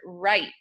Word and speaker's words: write: So for example, the word write. When we say, I want to write a letter to my grandmother, we would use the silent letter combination of WR at the beginning of that word.